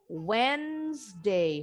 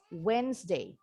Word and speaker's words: Wednesday: The D, N, E, huruf D-nya sama huruf E-nya silent. Wednesday, huruf S-nya bunyinya kayak huruf Z. Wednesday, Wednesday.